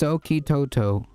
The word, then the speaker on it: Suchitoto: It's pronounced Soki Toto. Soki Toto, gotcha.